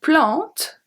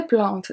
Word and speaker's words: plantes: Ou quelques plantes, ou quelques plantes. Quelque, we saw that. Plante, we saw it as well. The E and the S are silent.